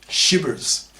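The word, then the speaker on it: SHBRs: or sh beers that's s HB RS pronounced shers sexist hypocritical bigots because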